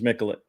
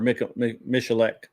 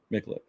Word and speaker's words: Mikulik: So I know a guy named Jerry Mikulik, and that's how you say his name is Mikulik. So anyway, or Michalek sometimes, but mostly his name's Mikulik.